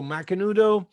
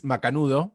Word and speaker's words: Macanudo: about macanudo hmm so mcnudo which to me is macanudo which is how i pronounced my whole life because i'm from argentina and it's a daily